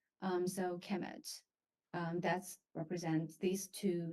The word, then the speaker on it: Kemet: uh it will be the noun will be pronounced a chemet so so uh Egyptians